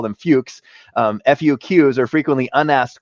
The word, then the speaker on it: FLUQs: mentions where I'll I'll clean up the the pronunciation. We'll call them fuches.